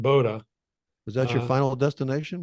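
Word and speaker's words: Bodø: b o do O It's pronounced Boda was that your final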